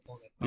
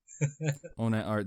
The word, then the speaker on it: ONATARTH: So it's called ONATART. The H is your spirit animal, dude. It stands for hentai. Please no. ONATART, the H is silent, but it stands for hentai.